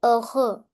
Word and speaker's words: heureux: Tu es heureux. Heureux. Here, last X is silent and H always remains silent in French.